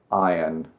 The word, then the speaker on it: iron: Iron, iron. A lot of people say iron. You don't actually pronounce the R.